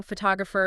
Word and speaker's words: photographer: Like you were saying, you know, photo stresses at the beginning. Photographer, it shifts to the second syllable.